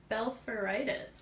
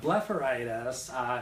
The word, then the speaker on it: blepharitis: I'm probably going to say this wrong, but what is Blepharitis? Oh, you did say it wrong. So Blepharitis is something that is commonly seen in patients